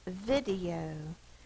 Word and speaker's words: video: The next word we'll do is video. Vid-E-O. Vid. Now why is it vid instead of the V-I? Because that's the short sound.